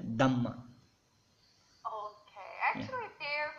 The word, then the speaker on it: Dhamma: That is called Dham, or in Pali we say as a Dhamma.